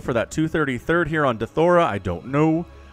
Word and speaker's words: Deathaura: that 233rd here on dethora i don't know my brain really wants to say death aura here because that's what it is ara is said ara but tastosis pronounces it dethora and like okay i